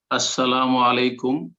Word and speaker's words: আসসালামু আলাইকুম: নেওয়ার শুদ্ধ উচ্চারণটা একটু আরো একটা কোশ্চন শুদ্ধ উচ্চারণ আসসালামু আলাইকুম এটা হচ্ছে সালাম 10 আসসালামু আলাইকুম ওহমাতুল্লাহ 20